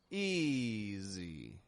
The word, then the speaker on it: easy: Easy. That was easy. That was easy. S changing to a Z.